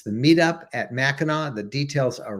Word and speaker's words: Mackinac: It's all spelled Mackinac, not Mackinac, or pronounced Mackinac, not Mackinac.